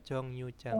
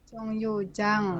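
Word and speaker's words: 정류장: Bos Jong rioangbas u Jang ya bacanya Jong Yu Jang J Jong Yu Jang Heeh karena i yang bertemu dengan R rnya dibaca niion Ini hukum baca ya oke sem Bose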